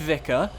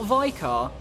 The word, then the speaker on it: Vicar: Vicar Amelia, pronounced Vicar, not Vicar, is the second mandatory boss fight in Bloodborne, and the obstacle keeping you from the Forbidden Woods and beyond.